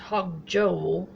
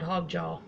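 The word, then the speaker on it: hog jowl: got my meat cooked over here it's correctly pronounced hog joel but we call it hog jaw you want to test it again it's not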